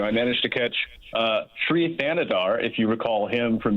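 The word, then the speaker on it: Thanedar: Thanadar, Sri Thanadar.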